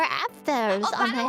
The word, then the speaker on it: Apfel: Apfel. Apfel.